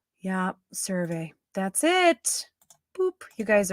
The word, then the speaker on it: CeraVe: CeraVe.